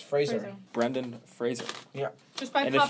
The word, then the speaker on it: Fraser: nosferatus little gay obsession with the husband's not pronounced Brendan Fraser it's Fraser Brendan Fraser yeah and if you say Frasier I know where you live if you say